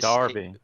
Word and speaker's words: Derby: Derby. It's Darby.